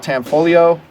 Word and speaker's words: Tanfoglio: by a company called tanfoglio I think the G is silent Hutton folio I'm 40